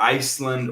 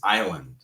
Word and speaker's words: island: wanted to make sure that we practice the pronunciation of island okay? It's not island or ice land or any other of those crazy things. It is island, okay.